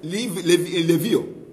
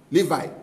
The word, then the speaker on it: Levi: Es como anteriormente, antes de Jesús, los sacerdotes solamente tienen que ser la tribu de Levío. Levío, no es Levíticos. Levi. ¿Cómo se dice? Levi.